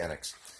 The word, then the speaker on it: Enix: I think it is unit annex whatever you pound you pronounce it I think it's actually annex so yeah at some